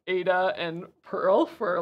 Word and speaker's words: Ada: Like, oh, it is pronounced as Ada.